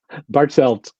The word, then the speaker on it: Bartelt: out loud help me say it correctly Nick bartelt bartelt see actually it's funny Nick and I